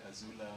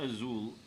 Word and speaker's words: azul: Azula. The Zulu, right? Yeah, I was that- OD, I just like that. It's not azul, it's azul. In Spanish, you pronounce the letter Z as a TH sound.